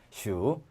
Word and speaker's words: 属: 자, 그러면 속자가 소자만 남고 발음은 어떻게 돼요? H가 있으니까 복모음이 되고 바다가자 서산자 해당되지만 삼성이니까 슈.